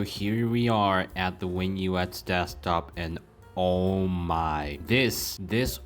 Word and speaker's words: WinUX: So yeah, last but not least, WinUX. Okay. So I'm pretty sure the correct way of pronouncing this is WinUX because, well, it is based off of Linux.